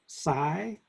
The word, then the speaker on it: psi: with okay psi the the p is usually silent so it's pronounced psi but some people put